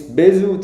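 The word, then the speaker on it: Bézout: name is Basel bz I think this T is not pronounced I guess so it's bzu theorem and it says that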